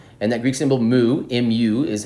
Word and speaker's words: mu: greek symbol mu and that greek symbol mu mu is how you pronounce it mu is the micro stands for